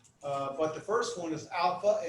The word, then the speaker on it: alpha: But the first one is alpha, and it's pronounced as in father, and beta as in ball, it's a B, we're used to it.